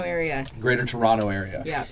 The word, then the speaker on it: Toronto: The Greater Toronto area. Greater Toronto area. Yeah. Is it Toronto or No. Toronto? Toronto. But there's a T there.